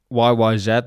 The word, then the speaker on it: YYZ: YYZ, that's how you're supposed to pronounce it.